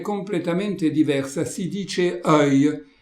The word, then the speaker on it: œil: In questa breve scenetta notiamo anche la parola yeux, occhi, che al singolare è completamente diversa, si dice œil e si scrive O-E-I-L con una particolarità che la O e la E sono praticamente fuse insieme.